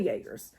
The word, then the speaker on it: Jaegers: and british light infantry hessen jaggers jaegers man it looks like jaeger from jagermeister so sad that i'm having to relate it to alcohol to know how to spell that so hessian jaegers we'll say yeagers renowned sharpshooters and horsemen